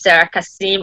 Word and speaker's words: Serah Kassim: And I recently, yeah, because a lot of times people always tend to mix up with Sarah.